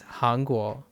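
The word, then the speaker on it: 韩国: But that's Hangguo. Hangguo for Chinese. Kan and Han are pretty close, but I don't know if Kan is the onyomi.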